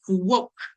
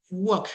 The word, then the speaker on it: walk: El verbo caminar es walk. Walk. Quitamos la a, ponemos una o y quitamos la l.